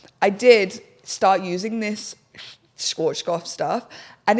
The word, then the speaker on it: Schwarzkopf: That brand, Schwarzkopf. You know what? Yeah, Schwarzkopf.